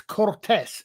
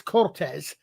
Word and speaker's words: Cortez: Well, the thing is in Spanish a Z is pronounced like an S.